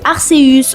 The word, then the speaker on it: Arceus: le début et que c'est nous qui nous obstinons à l'appeler Arceéus au lieu d'Arceus.